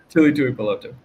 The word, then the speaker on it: Tuli Tuipulotu: Is actually Tuli Tuipulotu. I always screw his name up. Go ahead, say his name for me. Tuli Tuipulotu.